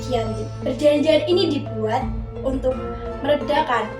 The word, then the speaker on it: Giyanti: Disebut Giyanti karena perjanjian ini ditandatangani di Desa Janti, yang dimana dalam pelafalan Belanda ialah Ianti yang dibaca sebagai Giyanti.